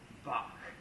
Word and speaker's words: Bach: I think it's actually pronounced Bach.